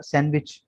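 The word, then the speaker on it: sandwich: अंग्रेज इंग्लिश जो कि थोड़ी तेज जबान है तो वो साइलेंट कर देते हैं इसको। इसी तरह सैंडविच, सैंडविच नहीं होता, सैंडविच होता है, ठीक है, सैंडविच जो हम खाते हैं।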